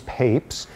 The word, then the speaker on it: Papez: a neurologist named James Papez. And I think there remains enormous controversy over whether his name is pronounced "papes" or "pap-ez." But probably neither is correct.